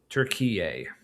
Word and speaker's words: Turek: Oh, so apparently it's pronounced turquier. Okay, I thought that's how it was. Turier.